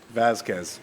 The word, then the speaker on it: Vazquez: Vazquez. That's exactly what I was thinking. Some people say Vazquez, so okay. Whichever way you want. Vazquez. Vazquez is the Spanish way, and then Vazquez is the American way.